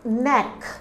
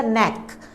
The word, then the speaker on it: knack: Our next word is knack. Look at the spelling, K-N-A-C-K, but we will omit this K, okay. When we will pronounce it, we will not pronounce this thing, only the knack.